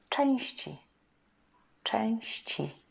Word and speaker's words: części: Compare these two. Część, one syllable. Części, części, two syllables.